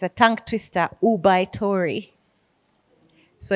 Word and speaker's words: ubaitori: one g-a-m-a-n Gammon I don't know how they pronounce this in Japanese but now you guys it's a tongue twister ubaitori so it's all you be oub a i